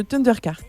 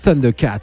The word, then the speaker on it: Thundercat: Et donc, on a écouté un morceau dont on a pas parlé, un morceau de Thundercart, donc Urburex and Setbacks, mon accent anglais magnifique. On prononce Thundercat.